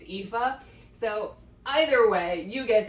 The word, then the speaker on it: Aoife: I'm still gonna call her, it's Aoife, I think, but I'm calling her Alfie. I call her Alfie too in my brain, but I think it's pronounced Aoife.